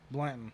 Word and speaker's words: Blanton: Jesse how you say your last name Blandon Blandon okay so the way it's spelled um I haven't known you for too